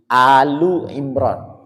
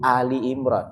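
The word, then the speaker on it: Āli ʿImrān: yang namanya Imran jadi alu Imran Kenapa bacanya Ali karena suratu Ali Imran ada kalimat suratnya dia menjadi mudof alinya menjadi mudof ilaih jadi suratu Ali Imran kalau suratnya dibuang alu Imran mestinya begitu tapi kalau kita sudah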